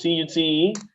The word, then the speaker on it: cute: Then somebody wants to know how to pronounce C-U-T-E and M-U-T-E. So that's cute. Cute. Cute. That's C-U-T, cute. M-U-T is mute. Mute. So the thing here is that there is a palatal Y.